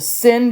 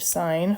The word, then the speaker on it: sine: So I'm going to use the sin button, as you kids like to say. Sin. It's actually pronounced sine, in case anybody was wondering.